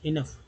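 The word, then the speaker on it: enough: ई एन जोड़ दीजिए, ई एन ओ, ओ यू जी एच, इनफ काफ़ी है ना।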